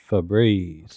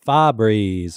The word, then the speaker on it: Febreze: No, that was Febreze. Yeah, yeah. Now, Phil, it down. Look, so I witnessed this. How does day. Phil pronounce it? Fabreeze is what Phil calls it.